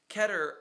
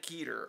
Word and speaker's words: Keter: A lot of people like Keter because it looks like meter, and it just rhymes like that way.